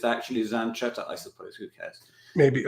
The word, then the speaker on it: Zanchetta: In Italian, with the CH is pronounced K. Yeah. You said Zanchetta, but I guess it's actually Zanchetta, I suppose.